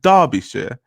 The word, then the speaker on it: Derbyshire: Derby, pronounced Derby, is a city and a unitary authority area in Derbyshire, England, pronounced Derbyshire.